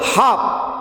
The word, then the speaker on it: half: In the word half, HALF, here L is silent.